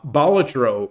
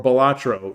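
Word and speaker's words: Balatro: Um, Bolatro or Bolatro, depending on how you pronounce it, I think is an amazing game.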